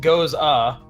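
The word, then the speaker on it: Gose: and um it says our take on the Goza pronounced goes ah I just skipped the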